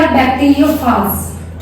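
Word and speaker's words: bacteriophage: तो क्या क्या लिया यहाँ पर इन्होंने लिया बैक्टीरियोफाज। क्या होता है बैक्टीरियोफाज? बैक्टीरियोफाज इज a virus. कुछ लोग इसे बैक्टीरियोफेज भी बोलते हैं, दोनों ही प्रोनाउंसिएशन ठीक है, कुछ भी गलत नहीं है।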